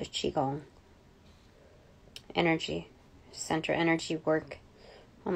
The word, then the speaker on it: Qigong: q i so Qigong I used to say Qui gong because that's what my American mind um reads into but it the pronunciation for q i is qi so Qigong energy Central Energy work